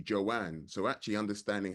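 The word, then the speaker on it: Jan: most people call her Joan but her name is actually Joanne so actually understanding how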